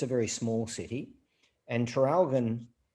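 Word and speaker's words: Traralgon: a a city called terralgon it's a very small city and tralgon a funny name it's spelt t-r-a-r-a-l-g-o-n trail quite difficult to trip off the tongue but it's actually an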